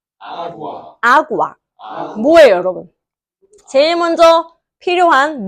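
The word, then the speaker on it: agua: A가 아니에요. 아구아.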